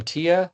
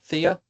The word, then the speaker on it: Thea: Tia. Thea. I want to make sure. How do you say? Oh, thanks. It's it's the th is like thea.